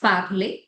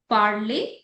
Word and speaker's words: parler: The first one is parler. Notice the pronunciation also. Jo ER ki pronunciation pronunciation aati hai woh age aati hai, okay? Parler.